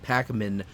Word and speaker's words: Pakman: David Pakman, okay, for all those of the left and David Pakman fans that listen to me, and there are